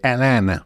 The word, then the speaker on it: Atlanta: Anzi, dovrei dire Atlanta, perché loro hanno questa pronuncia americana molto southern, no? Atlanta, molto, molto di slang, che di lì a